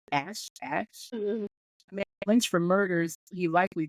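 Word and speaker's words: Asth: I would say that's pronounced A-S-T-H as Ash.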